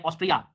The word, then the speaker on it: ऑस्ट्रिया: में check Republic सेक Republic उसके बाद में ऑस्ट्रिया आज एक बहुत बड़ा कंफ्यूजन दूर हुआ मेरे जीवन में कि ये स्पेलिंग गलत नहीं है एक्चुअल में कंट्री है